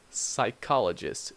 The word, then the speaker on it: psychologist: especially this one psychologist psychologist you do not pronounce II be okay psychologist so silent